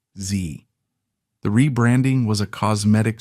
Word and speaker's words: Xe: In February 2009, Blackwater Worldwide officially changed its name to Zervices LLC, pronounced Z.